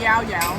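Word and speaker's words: llaollao: The sign out the front actually says pronounced Yao Yao.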